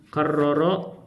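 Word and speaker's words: كرر: tufa'il mufa'alun fa'il yufa coba nih karroro karroro karroro berarti rnya ada kar roro rnya ditasdid yuk yukarriu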